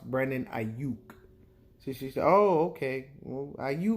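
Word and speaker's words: Brandon Aiyuk: me you just brat drafted some receiver named brandy yuck I said now mommy no we don't pick till 31 she said no it says right here on the TV Brandon Knight yuck and I said oh no mom it's pronounced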